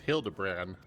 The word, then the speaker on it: Hildibrand: It's pronounced Hildebran.